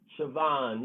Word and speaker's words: Siobhan: french mark for sure siobhan yeah this is that is the way it sounds uh oh jenny that's not how it's spelled though none of those names are the way pronounced the way they spelled okay i think we